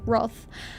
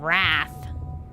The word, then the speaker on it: wroth: Thank you, you lovely Englishman, for pronouncing it Roth. It's so beautiful to hear it that way instead of wrath. I know it's spelled that way, but still.